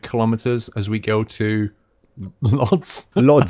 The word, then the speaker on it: Łódź: we'll do 300 kilometers as we go to Lodz. Lodz. How do you say it again? We're going to Lodz in Poland, everybody. Łódź.